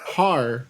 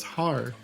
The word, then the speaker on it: Hauer: That's how you say his name. Rutger Hauer. Hauer. It's Hauer. It's not Hauer. Rutger Hauer. It's Rutger Hauer. No. No. It's not like root no, beer. It's Rutger Hauer. Har. It's Har.